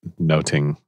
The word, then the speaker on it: nothing: They would have been pronounced the same, like noting would have been the way nothing was pronounced.